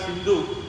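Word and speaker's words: Sindhu: we they could not there is a river called Sindu Sindu river between Pakistan and our Bat Country that snu nadii those English people they could not pronounce it as snu nadii they pronounce it as Hindu n Hindu n all the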